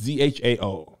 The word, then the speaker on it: Zhao: I don't know how to pronounce her last name. I want. It's Z H A O.